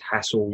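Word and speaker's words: Hasselbaink: I don't think you pronounced it properly. It's Hasselbank.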